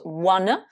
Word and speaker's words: wanna: On le prononce wanna. À la fin, vous avez le fameux son schwa et pas le son A.